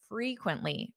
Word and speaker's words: frequently: we have the word frequently repeat after me frequently qu quently quently frequently notice that syllable stress it sounds louder on which syllable frequently da da frequently the first syllable frequently this is an